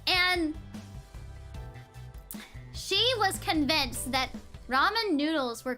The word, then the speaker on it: ramen: it she was like it's called Raymond and I was like no it's not it's a Japanese word Ramen Ramen they say it in Japan and she was like